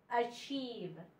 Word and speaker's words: achieve: So achieve, achieve. This e is silent.